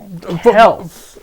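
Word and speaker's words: Kelce: Now you know how Mama Kelsey felt last Super Bowl when her sons went at it.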